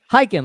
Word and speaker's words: Khaykin: Silent K. Hiking, like you're going hiking.